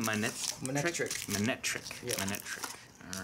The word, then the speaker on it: Manectric: Manectric.